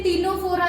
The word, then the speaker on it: Ctenophora: T से टीनोफोरा, इधर भी C साइलेंट.